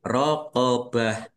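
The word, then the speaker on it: رَقَبَة: Ini karena waqaf maka dibacanya ha sukun. Rqobah ya. dibaca ha sukun dan waqafnya dibaca pendek karena tidak ada tanda panjangnya.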